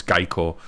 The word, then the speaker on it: Geico: it's actually Geico sorry I forgot it's not gecko it's Geico if you you might